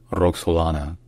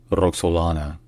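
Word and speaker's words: Роксолана: Sultan Suman magnificent in ukrainan her name is pronounced Ro Solana Ro Solana Rock soana Ro Solana all right if you enjoy learning our pronunciations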